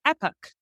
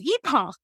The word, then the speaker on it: Epoch: we were like Brendan how would you pronounce EP p o c and he's in America it's epic in England it's EPA and so we chose